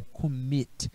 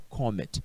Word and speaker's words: commit: Observa só, o verbo é commit, não é comet, é commit.